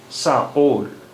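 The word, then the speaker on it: sağol: तो इसका काम यह बताता है कि इससे पहले वाला जो वाल है उसकी आवाज ऊपर से नीचे आएगी और इसके बाद वाला वावल जो है उसकी आवाज नीचे से ऊपर जाएगी तो इसका उच्चारण होगा साओल साओल साओल साओल धन्यवाद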